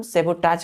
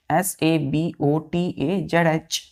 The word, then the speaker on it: sabotage: Pronunciation हम सेबोटाज करते हैं। क्या करते हैं इसका प्रोनाउंसिएशन? सेबोटाज। सेबोटाज क्या है बच्चों इसका प्रोनाउंसिएशन? SABOTAZH सेबोटाज।